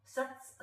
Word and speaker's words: सत्: आगे चलेंगे है ना सत सब लोग ध्यान से इसका उच्चारण सुनेंगे एक ही बार में पूरा पढ़ेंगे सरल है ना सत ये आधा ही बोलना सत जीभ ऐसी दबी रहेगी सत सत कर देंगे